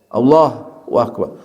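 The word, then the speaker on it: الله أكبر: Sehingga para ulama katakan tidak boleh memutus Allahu Akbar, kecuali ya ada uzur.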